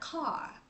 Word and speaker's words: car: chữ R cong lắm ví dụ như cái xe hơi á thì họ không nói là k mà họ nói là car car đúng không Thì cái